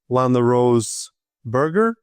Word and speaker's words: LanaRose Berger: Today I'm having a conversation with Lana Rose Burger. Am I pronouncing it correctly?